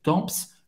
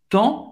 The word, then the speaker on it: temps: Cuidado, você não vai pronunciar nem o P nem o S, não é temps. Le temps.